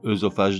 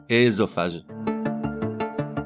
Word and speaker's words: œsophage: Donc œsophage non, ésophage.